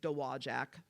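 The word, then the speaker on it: Dowagiac: that's called d-o-w-a-g-i-a-c Michigan nobody knows how to pronounce it it's dewajac by the way but that's something where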